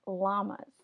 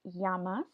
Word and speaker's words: llama: this is not pronounced llamas it is pronounced Yama so anytime you have a double L it is pronounced as a Y sound so these are llamas